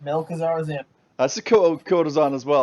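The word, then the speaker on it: Malchezaar: Yeah, I have trouble pronouncing this one, so I'll let Cage pronounce this one. Malkazar's Imp, I think. Did I get that right? That's correct. Melkazar's Imp.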